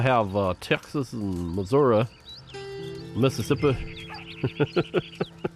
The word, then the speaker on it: Mississippi: got miam we have uh Texas and Missouri Mississippi Missippi no you don't say Missippi you say Missippi